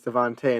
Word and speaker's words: DeVonta: It's spelled Devonta, but it's Devontae.